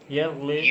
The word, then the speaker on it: yearly: Here also you stress the first syllable.